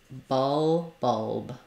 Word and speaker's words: bulb: for the L B bulb make sure you don't do bll not an o sound but an uh sound think of it as awah o b bulb yeah it's not an